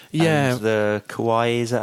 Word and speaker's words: kawaii: And the Kawaii, is that how you say it? Kawaii.